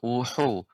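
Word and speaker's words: وُحُوش: Ya, dia tidak ada hentakan wuhu. Nah, ini dia ada hentakan. Yang tepat wuhu. Nah, seperti itu. Wuhu. Ulang Pak Ustaz ya Pak Ustaz. Ya, silakan ulang kembali. Wuhu. Ya, wuhu. Lembut pengucapan haknya Ibu. Wuhu. Ya. Selanjutnya ulangi. Wa idzal wuhushu hirat. Ulang Pak Ustaz. Ya. Bukan wuhu, ya. Jadi dia pengucapannya yang dia lembut dari awal sampai akhir, tidak awalnya wuhu.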